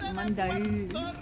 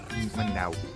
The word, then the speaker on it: Monday: There's a bunch of really fun outdoor activities to do here at Saltos de Mandau. Mandau. It looks like Monday, but it's not pronounced that way.